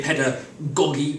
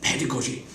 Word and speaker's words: pedagogy: better god to use some people say pedagogy under God you stress on the first syllable this generally refers to